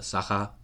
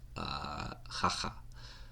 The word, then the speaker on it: Sakha: But according to Yakut people, they call it Sakha, and sometimes they also call it Hakha, in their pronunciation.